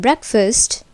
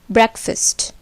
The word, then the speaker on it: breakfast: But in breakfast, the part fast is almost like first. This is because the accent or force falls on break and it becomes breakfast.